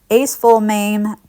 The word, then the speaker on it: acesulfame: The next one is acetylmame potassium.